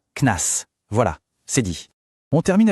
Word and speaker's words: CNAS: C'est bon de savoir que dans le langage de tous les jours, on prononce ça KNAS.